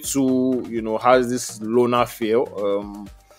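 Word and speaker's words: Llona: like this guy um Lona is spelled l l o n a the name of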